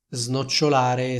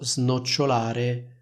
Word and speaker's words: snocciolare: Snocciolare significa enumerare, elencare. Di nuovo snocciolare e non snocciolare.